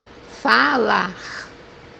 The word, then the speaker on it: falar: First one is pronounced as A. The example that we have here is the word to speak, which is in Portuguese falar, falar. So here, as you see, we say falar, falar.